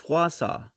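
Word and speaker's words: Wausau: And then some of the some of the names they brought, I'm like, "Dude, no, that's Wasau."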